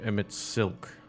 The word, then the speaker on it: Emet-Selch: And what of Emet-Selch? It's pronounced seltzer.